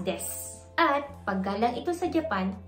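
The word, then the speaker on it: です: Kung mapapansin niyo may vowel di voicing ulit and that is yung word na des. Kung babasahin natin, para siyang des. Pero actually pino-pronounce siya as des at paggalang ito sa Japan kung may des.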